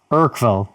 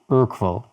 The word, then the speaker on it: Urquell: Let's see, Dimitrios, pronunciation guide, Urquell, Yeah, sure. with the U as a short U, like the U in put. Oh. Urquell.